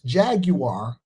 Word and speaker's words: Jaguar: Jaguar sales Jaguar. That's the proper way to say it.